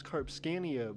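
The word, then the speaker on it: Karpskania: me k-a-r-p-s-k-a-n-i-a and so i figured out it's carb scania but rpsk looks weird to say uh and that's a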